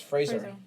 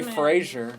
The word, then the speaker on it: Fraser: nosferatus little gay obsession with the husband's not pronounced Brendan Fraser it's Fraser Brendan Fraser yeah and if you say Frasier I know where you live if you say